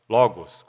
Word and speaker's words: Logos: uma palavra muito específica nós já citamos a palavra logoz Logos como pronunciamos em português para se referir a